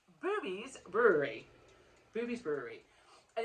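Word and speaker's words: Bube's: And the place, I thought it was called Bubes, like B-U-B-E-S. No. It's pronounced Boobies. Boobies Brewery.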